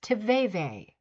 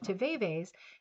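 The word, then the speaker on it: tivaevae: The answer is tve. And that is spelled t i v a e v a e.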